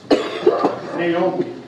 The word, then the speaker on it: Neoma: for a homegoing celebration Sister Margaret Naomi they told me to pronounce it that way Hitman Lewis she was